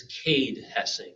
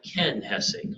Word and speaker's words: Cade Hessing: somebody after the news it's Cade hessing not Ken hessing okay I got his